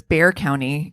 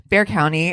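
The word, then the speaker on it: Bexar County: this is outside of San Antonio so it's Bear County it's pronounced bear apparently but it's spelled b x a r so yeah Bear County and so this is outside of San Antonio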